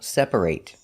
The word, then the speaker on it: separate: Words that end with a t sometimes are pronounced ate and sometimes pronounced it. If it's a verb, it's pronounced eight. Example, separate. If it's not a verb, an adjective, for example, it's pronounced it. Separate. We're going to practice some